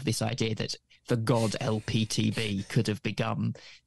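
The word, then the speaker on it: Elpeteb: of Godlike character called lptb something like that yeah yeah it was it's like a phonetic pronunciation of the letters l p TB but spelled e l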